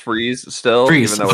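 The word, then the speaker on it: Fries: I'll say it is pronounced freeze still, Freeze.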